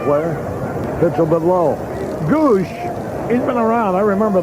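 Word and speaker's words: Gwosdz: have this name spelled G-O-O-S-H, the phonetic spelling, rather than all the S's, W's, and Z's? Gives him some character, though. G-W-O-S-D-Z is the spelling, but it's pronounced goosh.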